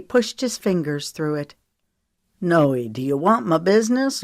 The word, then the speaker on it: Noe: to part with them Holden wrote her nickname as n OE but he pronounced it as Noy like Joey with an N she arched an eyebrow